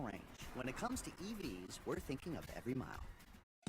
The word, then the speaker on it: EV: My dad went EV. It's electric. Don't be shocked. The guy who's eternally locked out of his email is going EV. Nice car. It's an Ev. Rhymes with Kev.